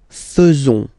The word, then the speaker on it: faisons: it's quite strange because French people tend to pronounce faisons, okay? So like here, this AE is not pronounced like normally we should pronounce it, like e, but then like e. Okay, nous faisons, nous faisons, okay?